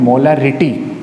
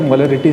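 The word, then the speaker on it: molarity: Students, थोड़ा सा एक कंफ्यूजन यहाँ पे स्टूडेंट्स को बना रहता है, एक हमारे प्रोनाउंसिएशन की मिस्टेक और छोटी सी, मोलालिटी एंड मोलारिटी। मोलालिटी और मोलारिटी, ये 2 जो चीज़ें हैं, इनको आप खास कंसंट्रेशन करना, ये काफ़ी इंपॉर्टेंट है।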